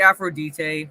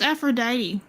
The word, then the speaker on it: Aphrodite: I thought it was pronounced Aphrodite. In the actual Greek, if I'm remembering correctly, it's actually pronounced Aphrodite. But in the, kind of like an English pronunciation, it's Aphrodite. Yeah.